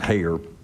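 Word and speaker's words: Heyer: to commit suicide well Hayer h-e-y-e-r I pronounce it hair he was transgender uh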